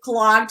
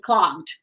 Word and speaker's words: clogged: Adriana asked if clogged is a sound with T. Actually, it's D, clogged. Clogged. It's almost a T, but it's not a T. It's like D, clogged.